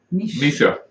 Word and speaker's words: Mesia: And Mesia is pronounced Misha.